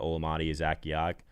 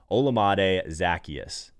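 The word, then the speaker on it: Olamide Zaccheaus: to go down to olamadi zack yak i knew i was going to butcher that name i literally have the pronunciation in my face right now on a notepad olamade zacchaeus all right someone's in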